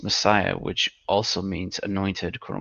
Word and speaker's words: Messias: a direct translation of the Hebrew word Messias uh that we pronounce Messiah which also means anointed quote unquote.